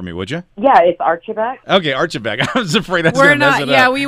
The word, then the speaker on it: Archibeque: last name for me would you yes ok Archibeque I was afraid yeah we weren't smart enough to pronounce it correctly yeah Laura we saw your